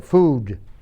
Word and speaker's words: food: Ok, food. Food. Como la U en español, food.